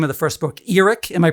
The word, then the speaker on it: Earic: No, most people just say Eric or or they fumble over it, but it's eerie.